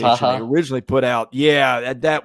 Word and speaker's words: Watara: The pronunciation they Wataha. originally put out, yeah, that was wrong, but I was going off what had been put out. I think it's Watara.